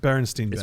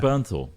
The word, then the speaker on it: Bernthal: You see, you can't remember his last name's impossible to pronounce. Bernst Bernstein Bears. It's Bernthal.